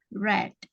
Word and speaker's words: read: Bentuk kedua tulisannya sama, tapi cara membacanya saja yang berbeda. Membacanya red.